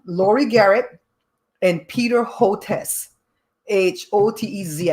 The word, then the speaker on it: Hotez: garrett and peter hotes h-o-t-e-z i think he pronounces it hotez peter hotes is a